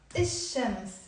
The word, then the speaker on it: الشمس: So we will write الشمس, but we will not pronounce it the ألف لام. We will pronounce الشمس.